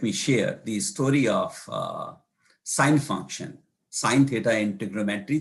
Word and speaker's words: sine: And then we eventually shortened it to SIN, and because it's pronounced as sin, and that's not a very good word to pronounce, so they started pronouncing it as sine.